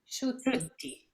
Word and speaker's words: Sciutti: Maybe Erica can help me to pronounce correctly the name, because I think it's Italian, probably Sciutti, or I don't know how you would pronounce it. Sciutti.